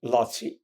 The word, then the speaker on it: Laci: The girl was Aniko, A-N-I-K-O, and the boy was Laci, L-A-C-I, nickname for Laszlo, as her father, his father was.